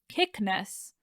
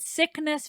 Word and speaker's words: Cycnus: pronunciation of ares's son it's spelled n u c-y-c-n-u-s in english but it's probably like kickness but sickness feels right and i just had